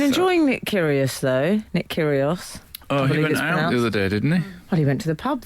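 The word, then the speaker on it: Kyrgios: kill the cat um curios kill the cat he has a silent G in his name you see the one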